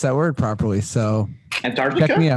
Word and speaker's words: Antarctica: that word properly so antarctica antarctica killed it ant like a-n-t yeah yeah what do